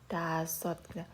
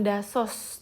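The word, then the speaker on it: 다섯: banget teman-teman dengerin tasot dasot ini dibacanya Bukan dasos teman-teman tapi kita baremnya atau pengucapannya adalah dasot dasot karena ini menjadi t ya terakhir kita akan belajar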